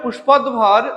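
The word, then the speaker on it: পুষ্পোদ্ভব: option B হংসবৃত্তান্ত তিন পুষ্পদভব পুষ্প পুষ্পদভর হ্যা উচ্চারণটা হবে পুষ্পদভর ছিলেন ড্যাশ রাজপুত্র মন্ত্রীপুত্র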